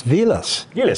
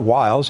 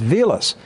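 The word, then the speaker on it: Wiles: name is German it's vus not Wilds it's vus but when they when they got when they got to America people looked at the spelling because Germans pronounced W as a v right all right and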